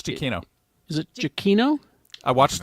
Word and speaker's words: Giacchino: Because you're going to have to help me with the last name pronunciation, Rebecca. Michael Giacchino? Giacchino. Correct, you got it. It's Giacchino.